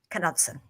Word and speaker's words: Knutson: it totally isn't because she's Scandinavian and it is Knutson oh my God see